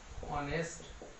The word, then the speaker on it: honest: যেমন he is an honest man সে হচ্ছে একজন সৎ ব্যক্তি অনেস্ট ম্যান তাহলে এই যে এন এইচ দিয়ে শুরু হচ্ছে শব্দটা এইচ কিন্তু উচ্চারণ হচ্ছে না সাইলেন্ট হচ্ছে অনেস্ট তার জন্য এন